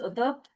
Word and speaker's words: Uthuph: It's pronounced Udup. It doesn't- doesn't, there's an H at the end, so it looks like an F.